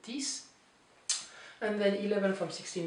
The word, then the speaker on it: dix: Neuf, this is like six, so the X is pronounced like an S, so it's not dix, but dix.